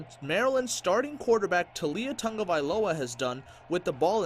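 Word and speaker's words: Taulia Tagovailoa: Pronunciation is tough. It's what is it? Talia Tungavailoa.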